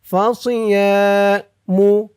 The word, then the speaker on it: فصيام: ফামাল্লাম Yazid ফাসিয়ামু ইয়া এক আলিফ টান, ফাসিয়ামু সদের উচ্চারণটা খেয়াল করবেন, সি বলা যাবে না, সি বললে সিনের উচ্চারণ হয়ে যাবে।